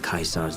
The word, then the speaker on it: Caesar: meet the lesson that Chi Tsar's legion taught here especially in the NCR troops you run across right I forgot you pronounced Caesar as Kaiser I guess it's technically correct but luck hmm what